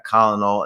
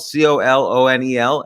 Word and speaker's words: colonel: but it's it's SP it's spelled c o l o n e l and for some reason it's pronounced Colonel so just another uh